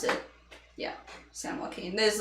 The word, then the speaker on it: San Joaquin: san joaquin river or um that's how you pronounce it yeah san joaquin there's like a massive ancient river that used